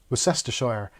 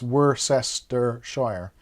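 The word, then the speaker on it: Worcestershire: sauce Worcester sauce yeah if you if you pronounce Worcester worshire as you see it it's difficult because you break up worest Shire that's how most Americans break it up and when I heard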